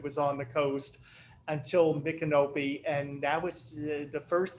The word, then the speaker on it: Micanopy: I also noticed Micanopy. Is that how you say it? No, Yeah. Micanopy. Micanopy. Canopy, yeah.